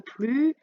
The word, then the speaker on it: plus: plus je ne veux plus de pain je n'ai plus faim dans ce cas là on ne prononcera pas de s à la fin de plus on dira plus blanc ça s'appelle un onomatopées